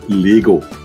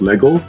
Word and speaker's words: Lego: It's Lego, right? It's not Lego. It's Lego. Okay, Danish. Second last syllable gets stretched.